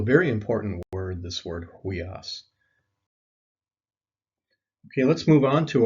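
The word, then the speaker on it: υἱός: Next is the word for son, huios, is how you pronounce it, ha huios.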